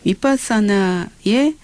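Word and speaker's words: vipassanā: 위 원래는 영어로는 비라고 발음하는데 산스크리트 원 발음으로는요. 이 V 발음은요. 위 발음으로 합니다. 그래서 윗바사나라고 하고요. 윗바사나의 한자 발음으로 바르게 본다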